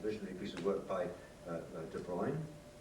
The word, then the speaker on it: de Bruijn: piece of work by De Bruyne on de Brown, I think it should be pronounced, um on called Automath